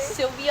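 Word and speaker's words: Silvia: Sylvia S15.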